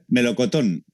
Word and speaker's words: Melocotón: How is pronounced in Spain? Melocotón.